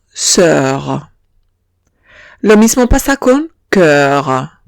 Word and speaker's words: cœur: Lo mismo pasa con cœur. Lo mismo pasa con cœur. No pronuncio la O y digo cœur.